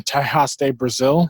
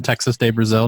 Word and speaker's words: Texas de Brazil: Even though it's not like the food quality, I think is just a little less than Tejas on Texas de Brazil, now that I'm saying it correctly.